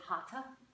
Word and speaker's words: Hatha: The term Hatha, Ha, and then Tha, or if you're in India, they pronounce it Hatha.